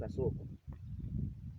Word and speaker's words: asoko: Can you pronounce asoko? Asoko, pronounce asoko.